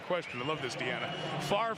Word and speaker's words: Favre: Favre rhymes with starve. Don't worry about the order of the letters. Just say it right.